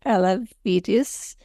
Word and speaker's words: Elevidys: distene Moxy Parov r o KL more easily pronounced as alidis foren muscular distrophy DMD in ambulatory individuals aged